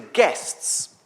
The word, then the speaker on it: giests: And guests, by the way, if you are trying to write it down, is spelled G-I-E-S-T-S, which is a bit confusing.